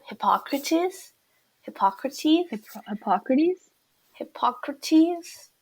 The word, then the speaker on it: Hippocrates: Hippocrates? Hippocrates? Hippocrates? Hippocrates? They all like end with like ease. It's like es. It's ease. I think. Hippocrates? I think so. Hippocrates? Okay, I should. Hippocrates, a great philosopher.